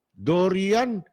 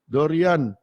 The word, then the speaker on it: Dorian: Dorian. Parang Dorin ang ano nila eh. Ang pronunciation nila, Dorin eh.